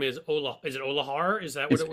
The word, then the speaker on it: Olear: Is it Olahar? Is that what it's Oli. It's just Olear. It's pronounced the same way.